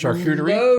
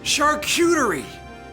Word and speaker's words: charcuterie: He has and I hope I don't say this wrong, a charcuterie. How do you say that? Ooh. That's just charcuterie. Yes! Redemption! Yes! Charcuterie!